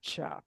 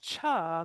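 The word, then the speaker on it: Chih: But it's pronounced cha like uh almost like ch ah or maybe even like chuck wagon without the k.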